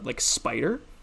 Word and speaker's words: Spyder: Pick up a nice editor like Spider is what I use. Spider is spelt like SP, like SPYDER, and then I would